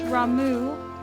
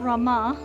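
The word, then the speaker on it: Ramuh: It's Ramu, not Rama.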